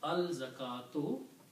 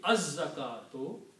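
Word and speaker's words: الزكاة: And when you put al, this one dhamma goes away and it becomes al-zakatu. And again, this za is a shamsi letter, so in pronunciation it will be az-zakatu.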